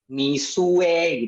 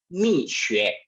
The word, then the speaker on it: Mixue: Ada yang bacanya Mixue seperti teman kita tadi, ada yang bacanya Misue gitu ya, ada yang baca berbagai macam. Nah, pertanyaannya bagaimana sih melafalkan ini? Nah, yang benar adalah untuk melafalkan brand ini adalah Mixue.